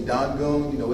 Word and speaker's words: Dangun: That you hear that D sound, it's spelled with a T now. You know that it gets, the T gets that D kind of feel. Like when you say Dangun, it's spelled with a T. Ask these questions. Dosan, spelled with a T, but it gives like a hard D sound.